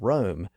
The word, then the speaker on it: Rome: enough for one man but the pun gets lost on a modern audience since we've shifted the pronunciation of Rome back to its original pronunciation now so far we've